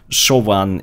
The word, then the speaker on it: Siobhan: to be Irish and I'm being told that so one is an old Irish name so I can't really pronounce it I could say Co pond if you liked it but that's obviously stupid so you just have to excuse me while I'm going to keep saying Siobhan I have no idea